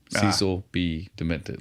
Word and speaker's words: Cecil B. Demented: Cecil B. Demented. Like the letter B, not B-E.